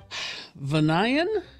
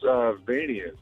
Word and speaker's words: Vanian: Let's go to Vanayan, I'm going to guess. It's actually pronounced Vanian. Vanian. Okay. Because you need another I in there. So what was that? It should be V-A-I. To make it Vanian.